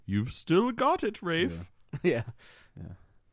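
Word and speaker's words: Ralph: And now he's like, "You've still got it, Rafe." Yeah. Yeah. Why don't you pronounce the L, P, and H in your name?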